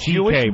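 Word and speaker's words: C.K.: It's pronounced CK, but it's spelled much longer.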